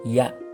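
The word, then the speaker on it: ja: Avec les Yots ici, ça se prononce Y. Donc, on a Ya. Ya veut dire oui. Oui en allemand.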